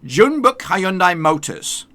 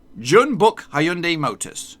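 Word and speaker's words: Jeonbuk Hyundai Motors: next that we have June Buckeye and I motors now that's how I would say it before my lesson from Robin but this is how you're supposed to say it June book Hyundai Motor's June book I own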